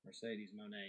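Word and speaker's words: Mercedes Moné: I'd say, how did she pronounce her name? Mercedes Monet.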